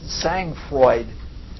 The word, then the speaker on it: sang-froid: It's spelled sang-froid, but it's called sang-froid.